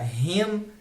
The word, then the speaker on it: him: Quando tem um M no final de alguma palavra em inglês, ele tem uma pronúncia fechada, então você vai fechar a boca.